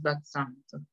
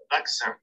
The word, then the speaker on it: vaccin: Déjame ver, creo que es vaccin. Porque a veces hay excepciones con la pronunciación. Vaccin.